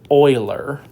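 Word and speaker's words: Euler: You pronounce this Oiler. Uh Leonard Oiler is like a top 10 mathematician.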